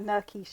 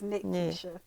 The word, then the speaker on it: Nikkisha: It's not Nikkisha. It's Nikkisha. So, Picky. oh my God. I mean, I don't make a big deal I'm out pretty of sure it. that I say Nikkisha.